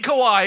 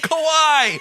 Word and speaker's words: Kawhi: There's no other way to say it than Kawhi. It's literally phonetically spelled Kawhi.